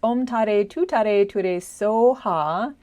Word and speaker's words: Om Tare Tuttare Ture Soha: So as I said, on Thursday we're going to talk about Green Tara's mantra, which is Om Tare Tuttare Ture SOHA. That's the Tibetan pronunciation.